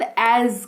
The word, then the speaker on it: as: जैसा इस्तेमाल करते हैं शब्द एज का। देखो ए एस लिखा हुआ है, लेकिन हल्का ज निकलता है क्योंकि उसका उच्चारण वैसा ही होता है। ठीक है, ए एस, इसको एस नहीं एज पढ़ते हैं, हल्का सा नुक्ता लगा